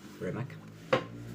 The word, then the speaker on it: Premack: Casi esto parece como si estuvieran diciendo Mac al final, pero no. Premack.